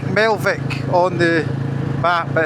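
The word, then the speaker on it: Melvich: about 30 miles, 40 miles it is, to Mel I think you pronounce it. It's written like Melvic on the map, but it's Melv.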